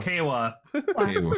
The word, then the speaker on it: Kawa: it's more that it rhymes with Heiwa, the word for peace.